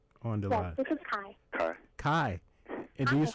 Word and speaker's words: Kai: This is Kai. Kai. And Hi, how are you? Do you spell it K-I-A?